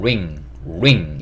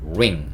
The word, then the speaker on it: ring: R 발음이기 때문에 ring 이게 아니고 ring 이렇게 발음해 주셔야 돼요. ring 이게 반지고요.